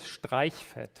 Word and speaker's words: Streichfett: That's super hard to pronounce. It is Streichfett.